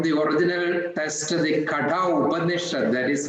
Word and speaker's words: Upanishad: That is from the original text, the Katha Upanishad, that is how it is pronounced, Upanishads.